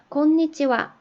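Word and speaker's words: こんにちは: 원래 이 히라가나는 하라고 읽는 거라고 배웠는데 여기는 왜 와라고 읽나요? 네. 요 와는 철수는 영희는 할 때 은는 이라는 주격 조사로 쓸 때 하라고 써놓고 와라고 발음을 할 거예요. 그리고 konnichiwa 오늘은 어떠세요? 하고서 오늘은 이라고 이렇게 축약된 형태로 이게 굳어져서 관용적인 인사말이 된 거기 때문에 얘는 주격 조사처럼 생각을 하시고 konnichiwa 이렇게 발음을 하시면 됩니다.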